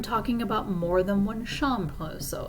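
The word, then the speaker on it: chambre: I said not shamb is pronounced the same whether it has an S on it or not but not would indicate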